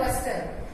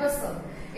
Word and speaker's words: bustle: बढ़िया इमारता with great हसल not hostel and बस्टल. एक hostel and बस्टल नहीं है एक ये हसल एंड बसल एदे विच की है टी जड़ा है साइलेंट है एच यू एस टी एल ई हसल एंड बसल बी यू एस टी एल ई बसल नॉट बस्टल ठीक है.